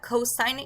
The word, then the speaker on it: cosine: you have cosine so cosine is abbreviate it cos again you pronounce that cosine it is just abbreviated in writing this one is the